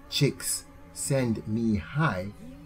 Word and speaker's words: Csikszentmihalyi: Claremont Graduate University Mihai Csikszentmihalyi yes pronounced chicks send me high as flo s l